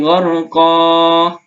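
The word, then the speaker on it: غرقا: Tanda bacanya mad iwad itu ada tanda baca fathatain sebelum alif. Maka dibaca dua harokat ya. Satu alif atau dua harokat. Wan nazi'ati gharqa, gharqa.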